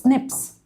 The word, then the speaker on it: SNP: it is single nucleotide polymorphism and it is pronounced as Snips right so Snips is different Snips is different